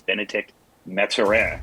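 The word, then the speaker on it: Bennedict Mathurin: better and that is benedict metzera i believe that is the actual correct pronunciation i did not take three years of french in college to waste it when i finally got to my career so i'm going to go with benedict and that's iran uh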